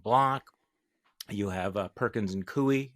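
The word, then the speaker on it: Coie: You have Perkins and Kooie. Am I pronouncing that correctly? Um Perkins Kuey. Yes.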